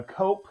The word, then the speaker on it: Koepp: So Disclosure Day, he collaborated with uh David uh Koepp. Cope, I think, is how you pronounce it. I it's K-O-E-P-P.